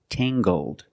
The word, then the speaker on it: tangled: her hair is Tangled using the nasal sound and the hard G Tang GG Tangled her hair is very Tangled